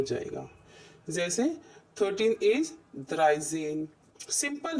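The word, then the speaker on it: dreizehn: द्राई देखिए ऊपर द्राई है ना, ये द्राई है तो द्राइजिश हो जाएगा, सॉरी द्राइजेन हो जाएगा.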